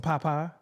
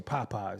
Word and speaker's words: Popeyes: Well, in the South, they don't like pronounce the whole word and shit. You like, anyway, go out there and give me some Popeye. No, they don't. He won't say Popeyes.